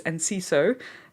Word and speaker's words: Enciso: But it's Enciso.